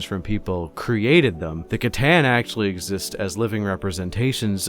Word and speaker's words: C'tan: for saying words wrong I thought it was actually pronounce sitan which okay cool it might be I take it back I'm going to say it right from now on but